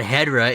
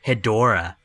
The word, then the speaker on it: Hedorah: not badra it's batra and it's not hedra it's hedorah hey man i'm doing